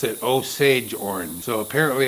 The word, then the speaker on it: Osage orange: went and googled it and i typed in pronounce o-s-a-g-e orange google referred me to three different videos and all three of the videos pronounced it osage orange so apparently it's osage orange okay so that's